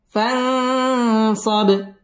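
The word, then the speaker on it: فَانْصَبْ: فرغ পুর হবে فرغت ফান ইকফা গুন্নাহ করে পড়তে হবে ফানসব বা কলকলার হরফ ধাক্কা দিয়ে পড়তে হবে এবং এখানে ওয়াকফ করতে হবে فإذا فرغت فانصب فإذا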